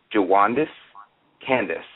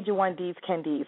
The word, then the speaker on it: Jwaundace Candece: W like to welcome my next special guest JIS Candace and did I pronounce that name correctly I've been practicing it all well you were close it's actually jandes Candis but jandes Candis is the closest that anyone's